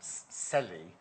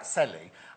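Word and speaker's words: Celly: the last hour called Selly. Are we saying it right? Selly. And C-E-L-L-Y, like cello. Is that like could be Chelly? Because a cello is C-E-L-L, isn't it? Anyway, yes.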